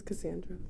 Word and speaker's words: Cassandra: username is casel casel but my name is Cassandra Cassandra okay perfect so Cassandra first we're just